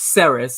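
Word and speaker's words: Serris: but it's called SE seris or seris or something along those lines but it's sarus it's spelled s e r r i s and that's the city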